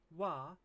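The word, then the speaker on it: は: But sometimes ha, the one that we learned before, can be pronounced wa when it's used as a particle.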